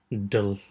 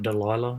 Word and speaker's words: Delia: Purely for the fact that Customs has given her that stupid Delia's Dance. It's not Delilah, it's Delia's Dance.